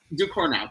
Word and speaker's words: Ducournau: The director, Julia's last name, I'm not going to even try to pronounce. It's Ducournau. Ducournau, thank you.